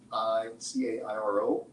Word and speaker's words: Cairo: So at the tip of Illinois is a town, it's spelled C-A-I-R-O, but pronounced Cairo.